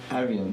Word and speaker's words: Arian: Eben, dass Musik Unsichtbares kann sichtbar machen, hast du aufgeschrieben zum Song Love von Arian. Oder wie spricht man es aus? Arian, okay.